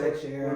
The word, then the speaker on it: Teixeira: yeah, Teixeira we're moving to and two.